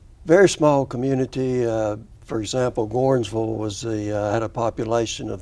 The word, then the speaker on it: Gordonsville: It's Gordonsville, but you have to say it Gornsville. Yeah, you got to put Gorn on the front end.